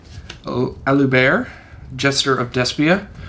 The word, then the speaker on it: Aluber: We got 3 Alubert, Jester of DESPIA, or Luber if you want to pronounce him that way.